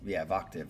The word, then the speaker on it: Vocative: Vocative, like octave. A professional a cappella choir. See, there you go. We got an a cappella choir. Pronounced like octave, but with the V.